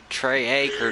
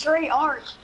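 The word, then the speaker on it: Treyarch: Trey Acre 99. You got 99 acres? It's Trey Arc. Like, freaking Call of Duty. Trey Arc.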